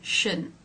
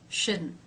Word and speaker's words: shouldn't: T sound shouldn't T you'll more often hear shouldn't without that release of the T so the t is